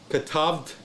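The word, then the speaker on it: כָּתַבְתְּ: the first one, and this one is actually, how can I say this? Not pronounced. This is this and the shiva are not really pronounced. Katavt. Well, I don't know if you can hear me say this. It's katavt.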